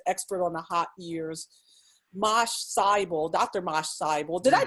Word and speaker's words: Mache Seibel: here as an expert on the hot years, Mache Seibel, Dr. Mache Seibel. Did I pronounce that correctly? It's Mache Seibel.